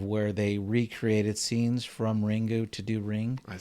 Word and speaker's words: Ringu: I mean, ringu is just the Japanese pronunciation of of a ring, right?